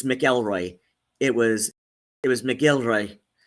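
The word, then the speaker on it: McElroy: the way people pronounce melroy so many people pronounce it mroy like no it's melroy it was it was melroy M apostrophe g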